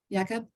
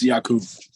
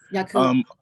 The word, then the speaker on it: Jakub: Did I pronounce that correctly? Jakob? It's Yakub. Jakub.